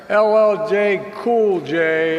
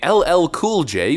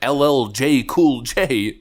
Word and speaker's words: LL Cool J: Giving LL Cool J, which Joe Biden doesn't even know who he is or how to pronounce his name, LLJ Cool J.